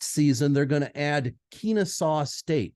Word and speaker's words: Kennesaw: they're going to add Kennesaw State did I say that right Kennesaw it's Kennesaw my apologies to people from Kennesaw State I mispronounced your name it's Kennesaw State it's